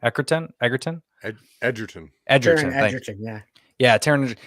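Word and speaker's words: Egerton: wanted to watch it because I love Taron Eckhart. Is that how you say his name? Edgerton.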